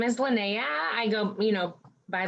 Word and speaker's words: Linnea: names so what's your name my name is lynnea i go you know by lynnae beautiful and leanne lynnea lynnea what's your superpower um my superpower would